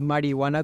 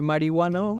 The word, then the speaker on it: marihuana: marihuana, marihuana con J, corresponde a una pronunciación aspirada de la H, que con intención festiva empleaban los chicanos a principios del siglo XX. En vez de decir marihuana, arrastraban la H y formaban una especie de J.